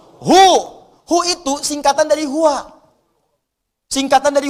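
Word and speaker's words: هو: Hu itu singkatan dari huwa. Singkatan dari huwa. Hu disingkat huwa. Kalau Anda wakaf membaca kalimat bahkan dalam bahasa Arab, apalagi Al-Quran, berhenti pada kalimat huwa, maka huwa-nya nggak bunyi.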